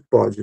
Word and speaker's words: pode: acento com a sílaba, como é o caso ali da segunda pronúncia de pode, né, que a sílaba tônica vem acompanhada dessa desse uso do o aberto, que é o caso de pó, tá?